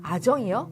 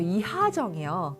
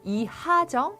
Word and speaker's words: 이하정: 아정이요? 아니요, 이하정이요. 이런 이름들은 흐지만 이응으로 들리기가 쉽거든요. 그래서 김서현, 이승훈, 이하정 정확하게 흐 발음 하시기 바랍니다.